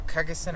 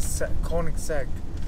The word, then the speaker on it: Koenigsegg: uh cosagan i think what you say or kargasan i used to say i used to say